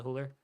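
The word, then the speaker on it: Güler: they have I know Arda hooler is not starting I believe that's how you pronounce arer or ARA hooler um or koku fantastic made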